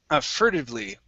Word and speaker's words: furtively: next is the word furtively okay right here so our stress is at the very beginning let's switch this t to a flap t furtive furtively for them